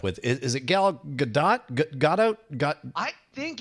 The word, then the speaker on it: Gadot: good god but but the emphasis is on the second syllable right and it's not dough right it's definitely not dough I know that much it's good dot gal gadot you get